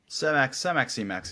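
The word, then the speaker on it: Semax: talk about the combination of Selenk and you pronounce it Cemax, Cemex. Cemax, yeah.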